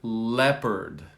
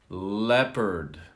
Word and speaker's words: leopard: All right, here is an animal, leopard. Leopard. Not leopard. Leopard. Leopard.